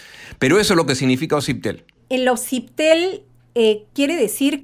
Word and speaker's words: Osiptel: la sabe pronunciar bien la gente suele decir sitel sí y no osiptel no y lo que pasa es que fonéticamente el s la s con la p no existe el idioma castellano esa combinación en